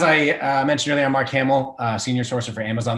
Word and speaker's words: Marc Hamel: I mentioned that uh my name is Mark Hamill not spelled the same and I was bored